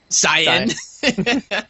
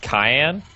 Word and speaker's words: cyan: Yeah, I had a teacher one time who pronounced it Cayenne. And I never knew if he actually knew how it was pronounced or not, but really, just never. You never, and sometimes it just makes you just question someone's intelligence when they cayenne, like pepper. Yeah, like cayenne pepper. That's a color, my friend. That's pronounced like an S.